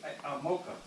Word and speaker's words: ATMOKO: ATMOKO. ATMOKO. They don't say no ATMOKO on here. Yeah, you gotta look at the back of the bottom of the ATMOKO.